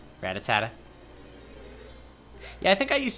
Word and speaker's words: Rattata: Fun fact, I used to pronounce Rattata Rattatatata. Rattata.